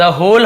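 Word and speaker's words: whole: cell वो बेचेगा द होल हाउस पूरे घर को यहां पर भी डब्लू सेट केवल होल पढ़ेंगे होल मतलब पूरा पूरी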